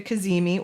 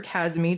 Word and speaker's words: Cazimi: superior conjunction, which is called a Cazimi or a Kazmi, depending on how you want to pronounce it.